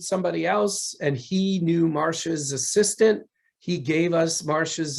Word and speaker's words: Marcia: said about star wars but now we got marissa lucas on board for this marcia i'm sorry yeah you spell it one way and then it's pronounced nine different ways that's right yeah yeah marsha lucas on board with this uh what was